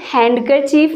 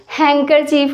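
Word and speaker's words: handkerchief: यहाँ पे भी क्या होता है? यहाँ पे डी साइलेंट होता है, ये हैंडकरचीफ नहीं होता, हैंकरचीफ होता है।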